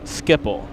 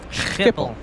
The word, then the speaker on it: Schiphol: I think we would call it Skipple. But maybe that was just to keep it simple. I don't know. Okay. So Yeah. what's the proper one? It's Schiphol.